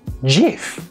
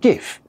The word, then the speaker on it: GIF: why on earth is the gif image format pronounced jif and not gif it's crazy i tell